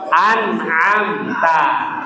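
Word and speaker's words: أَنْعَمْتَ: laziatalladzina an'am an'am anam bedakan huruf Hamzah dan ain anam. Jadi jangan amamtazina amamta. Nah, ini enggak boleh berubah makna Bapak Ibu. Anamta. Nah, jadi yang pertama Hamzah, yang kedua ain Bapak Ibu ya.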